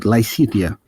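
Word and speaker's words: Lysithea: the pron iation field okay so lysia then yes am I pronouncing right lysia yes okay uh haven't played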